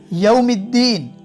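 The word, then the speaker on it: يوم الدين: यौमिद्दीन, meme के बाद direct दाल के साथ ज्वाइन किया हमने, बीच में अलिफ और लाम दोनों मौन, दोनों साइलेंट, क्योंकि उस पर कोई निशान नहीं है।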